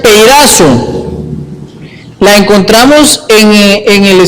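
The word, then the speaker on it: πειράζω: palabra Tentación esa palabra es la palabra que se pronuncia peazo la encontramos en en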